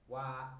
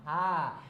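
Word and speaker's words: は: Oke, terus Wa. oke, tadi udah sedikit mikir gitu ya. Oke, jadinya wa gitu ya, bukan ha.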